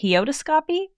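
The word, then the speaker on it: heautoscopy: Heodostoscopy.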